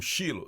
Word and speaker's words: Siló: 40 anos no deserto siló Foi algumas pessoas pronunciam chilo siló foi onde eles